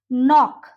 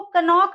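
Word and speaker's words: knock: जैसे नॉक, उसको कनॉक नहीं बोलेंगे, उसको हम बोलेंगे नॉक।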